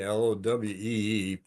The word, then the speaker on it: Lowe: These are Lowe, L-O-W-E-E, pronounced Lowe, little hand pruner for when you have big stuff to cut.